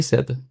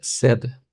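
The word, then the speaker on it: said: A pronúncia aqui é seda.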